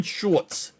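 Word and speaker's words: Schultz: I'm saying his name correctly this time dalon shortz shortz shortz I've listened to a thousand different videos cuz I butchered his name one time I listen to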